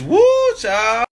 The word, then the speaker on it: whew chile: Like W-H-E-W Chile. Chile? It's woo, child.